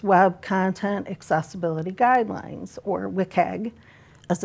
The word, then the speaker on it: WCAG: So Now there exists Web Content Accessibility Guidelines, or WCAG, as it's pronounced for short.